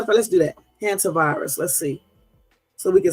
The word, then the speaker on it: Hantavirus: It's either Hunter or Hanta. Hold on. Let's see. Hantavirus. Oh, I said it right. Hey. You shut your ass up, Jermaine. I did say it right. Shut your ass up. Now listen. Wait. Hantavirus. Hantavirus. Okay, so I was right the first time.